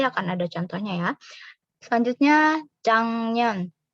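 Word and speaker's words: 작년: Selanjutnya jang년. Bacanya jang년. Di sini giok ketemu sama n jadi eng.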